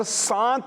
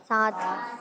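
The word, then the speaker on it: سات: 7 جی 7. پھر بولیں. 7 پھر بھی آپ سانت بول رہے ہیں, صحیح بولیں. 7 یہ ہے. تو پیارے بچوں یہ تلفظ درست ہوتا ہے 7, سانت نہیں ہوتا.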